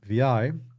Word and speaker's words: vi: So if we open up VI here, then VI, pronounced as two letters, VI, is a screen-oriented